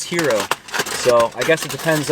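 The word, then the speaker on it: gyro: Eastern of some kind if it's called Hero or Hyro or Gro, how do you pronounce it? She said it was Hero.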